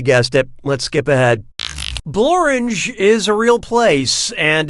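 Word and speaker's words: Blorenge: Blorange is a real place, and it really rhymes with orange.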